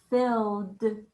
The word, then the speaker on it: filled: truck was filled up filled filled that word filled has the ed spelling and it sounds like this filled filled has the sound at the end the man lifted a